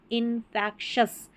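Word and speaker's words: infectious: इन, और एफ ई सी को fact पढ़ा, इनफैक्शस।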